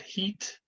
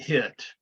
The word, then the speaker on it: hit: Good pronunciation on the I sound. Heat and hit. And the hard thing is that most Spanish speakers are going to call this one heat, right? The H-I-T, Mhm.